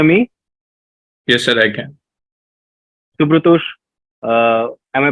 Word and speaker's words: Shubhratosh: Shubhratosh, Yes, sir. can you hear me? Yes, sir, I can. Shubhratosh, am I pronouncing your name correctly or there's an alternate pronunciation?